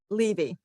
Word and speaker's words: Levy: And, are you Levy or Levy. Levy? Okay. Long E.